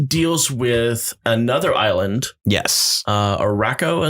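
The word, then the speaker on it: Arakko: Araco, am I saying it right? It's a Aroko? It's a anagram of Krakoa, so it's some sort of variation of those letters. I believe it's Araco, though. Okay, so in proper Hickman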